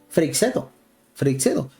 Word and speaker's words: Freixedo: Algunos le dicen Freixido, pero no sé si eso sea parte de la pronunciación particular de alguna persona. Normalmente yo escucho el apellido de Salvador Freixedo así: Freixedo. Lo acabo de escuchar por parte del presentador.